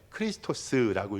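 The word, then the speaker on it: Χριστός: 제가 원어는 저도 잘 몰라가지고 잘 보여드리지 않는데요, 여기서 예수 그리스도, 이 예우스라고 읽어요. 예수, 그 다음에 크리스토스라고 읽습니다.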